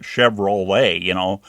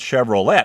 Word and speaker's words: Chevrolet: over there, and they, LET is let, like let Johnny come back inside, or something like that in a sentence. So if you had that, then you'd know it would be let, but then it goes Chevrolet.